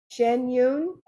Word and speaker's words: Shen Yun: It's Shen Yun. Is that, am I pronouncing it correctly? Shen Yun.